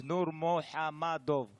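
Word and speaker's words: Nurmagomedov: And my man, Khabib, just in case, if you don't know how to pronounce his name, I recorded something special for you. No Khabib. Habib Abdulmanapovich Nurmohamadov.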